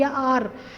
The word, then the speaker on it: hour: हर शाम को हमें 1 घंटा अपनी जो फैमिली आर, HOUR, बेटा H से स्टार्ट हो रहा है लेकिन H साइलेंट है और साउंड क्या है, वोवल की आती है, आर, ऑनेस्ट, ऑनेस्टी, आर, तो यहाँ पर आप यूज़ करेंगे एन।